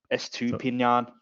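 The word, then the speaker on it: Pervis Estupiñán: Estupinan. Estupinan. Yeah, Estupinan. Purvis Estupinan. Estupinan.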